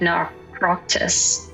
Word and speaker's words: Naukratis: Even North Africa saw Greek colonies, like Naukratis (NAW-krah-tiss) in Egypt These colonies were not mere outposts.